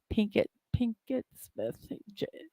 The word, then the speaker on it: Pinkett: I know I said her middle name, her maiden name wrong, but Pinkett Smith.